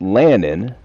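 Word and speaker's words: Leannan: that name again his name is Lance it's pronounced Landon it's spelled l-e a-n-n-a-n but l-e-a-n-n-a-n yes last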